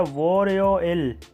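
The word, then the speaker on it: 월요일: First day ऑफ the week है वोरयोइल। वोलयोइल सोमवार को कहते हैं और इसे प्रोनाउंस करेंगे वोरयोइल। वोरयोइल।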